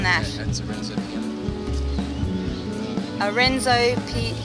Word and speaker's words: Piano: Yeah, that's a Renzo piano.